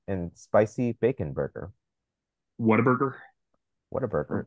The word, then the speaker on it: Whataburger: Whataburger is correct. Waterburger, as I think I've heard some people pronounce it. There you go. However you want to pronounce that.